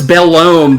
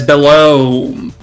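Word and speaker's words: Belome: Also, apparently his name is supposed to be pronounced both in Japanese, or almost in Japanese, and also in English. Not as Bellome, but as Bellome. Like you do a wavy O.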